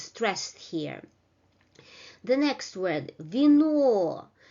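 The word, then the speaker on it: вино: The pronunciation is the same as in alphabet, while in the first syllable, v, the unstressed vowel loses its quality, and it is pronounced in a very quick manner, and it is close to a short variation of e, vino, vino, vino.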